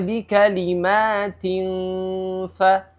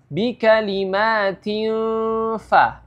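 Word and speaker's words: بِكَلِمَاتٍ فَ: Jangan membacanya seperti NG atau eng ya. Contohnya bikalimatin fa ya, itu salah. Karena ikhfa itu bukan NG ya.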